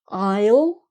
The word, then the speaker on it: I'll: So I'll, you'll, he'll. So that's like two syllables really. He'll, she'll, it'll, we'll, they'll. So that these are all more or less two syllables, okay, meaning I will, you will, he will, etc.